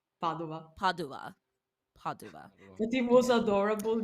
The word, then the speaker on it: Padova: The only issue is that because it was at or in is it Potseva? Is that the correct pronunciation, or am I fully wrong? Pavola? It is adorable, but it's Padova. Padova.